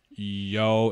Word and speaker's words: Yeo: His last name is pronounced Yo instead of Yale, which I totally get.